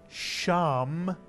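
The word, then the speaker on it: שם: Take your time and see if you can read this real Hebrew word, one syllable. If you said sham, you're absolutely correct, mitsuyan.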